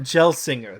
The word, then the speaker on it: Gelsinger: engineer oh gosh would you like me to pronounce his name david it's pat gelsinger there we go gel singer there we go